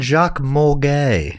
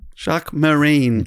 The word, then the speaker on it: Jacques Mesrine: What was his name again? Jacques Morgay. Is that right? Jacques Mesrine. Jacques Morgay. I was quite a way off.